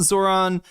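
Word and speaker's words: Zohran: I feel like the Connor Points probably knows that it's Zoran.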